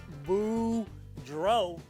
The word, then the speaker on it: Boudreau: gotta do hey everybody my name is boudreau that's pronounced boo dro and i'm here to